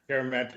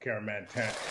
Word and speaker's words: Kyeremanteng: And then Kyeremanteng. You killed the last name though, Kyeremanteng.